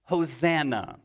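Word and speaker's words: Hosanna: the the word save us would have been pronounced hosana and we think that is a term of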